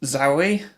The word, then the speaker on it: Zawe: Okay, so her name is Zawe. It's Philippa Zawe. It's spelled Zawe.